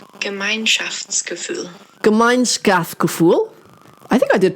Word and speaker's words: Gemeinschaftsgefühl: me a voice message of how it is pronounced. Gemeinschaftsgefühl.